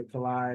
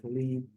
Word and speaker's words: Kalei: A lot of people mispronounce Kalei. They're not sure if they're saying it right. They say Kalei, they say Khalid, all kinds of stuff. But it's Kalei.